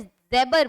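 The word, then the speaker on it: jabber: क्या है नेक्स्ट, क्या है, ध्यान से देखो, ज़ेबर, ज़ेबर, ये स्पेलिंग इसकी जे से शुरू है लेकिन इसे ज़ेबर बोलते हैं, ठीक है, ज़ेबर।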